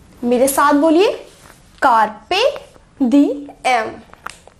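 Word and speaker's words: carpe diem: और इस वर्ड को प्रोनाउंस करते हैं एज कार्पे डीएम, कार्पे डीएम। मेरे साथ बोलिए, कार्पे डीएम।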